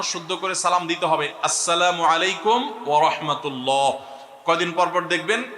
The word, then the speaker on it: আসসালামু আলাইকুম: শুদ্ধভাবে সালামের উচ্চারণ বাড়ানোর জন্য শুদ্ধ করে সালাম দিতে হবে। আসসালামু আলাইকুম ওয়ারাহমাতুল্লাহ।